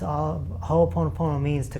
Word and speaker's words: Ho'oponopono: Because I can't even pronounce that. I know it's Hawaiian. Ho'oponopono.